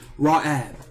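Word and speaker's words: רעב: This word is hungry, or that phrase, the hungry, is ra'ab.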